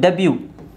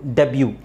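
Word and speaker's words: debut: Buffett ಅಲ್ಲ buffet buffet ಇದು ಡೆಬ್ಯೂ ಇಲ್ಲಿ ಮಾತ್ರ ಬ್ಯೂ ಅಂತ ಹೇಳ್ಬೇಕು ನಾವು ಬಿ ಯು ನ ಬ್ಯೂ ಅಂತ ಹೇಳ್ಬೇಕು ಡೆಬ್ಯೂ ಡೆಬ್ಯೂ ಡೆಬ್ಯೂ ವ್ಯಾಲೆ ವ್ಯಾಲೆ ವ್ಯಾಲೆಟ್ ಅಲ್ಲ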